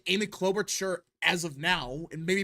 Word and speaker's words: Klobuchar: It's Klobuchar.